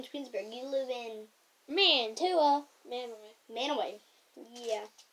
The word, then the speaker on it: Mantua: Manaway. Yeah. It's pronounced Manaway. Not Mantua.